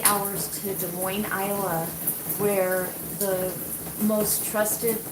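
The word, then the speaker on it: Des Moines: I don't know if De Moine is like Illinois where you don't pronounce the S so I'll just say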